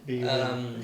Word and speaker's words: bun: BUN. Okay. In English. It's phonetically pronounced the same way.